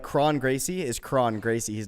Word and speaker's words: Kron Gracie: middle of their name if there's an r in the middle of their name it's still pronounced like an r like chrome english is